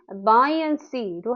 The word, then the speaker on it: buoyancy: 발음은 buoyancy로 합니다.